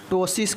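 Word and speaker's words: ptosis: eyelid इसे हम लोग टसिस कहते हैं क्या कहते हैं पी जो है साइलेंट होगा टसिस जो है हम इसको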